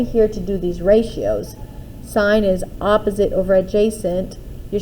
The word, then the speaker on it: sine: or pronounce them because i don't want you pronouncing these as sin or cosine or cos these this here is pronounced as sine theta c o s stands for the word